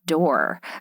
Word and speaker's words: Dore: start with your name your last name being door because even though it's spelled differently it's spelled D o r e the image of aore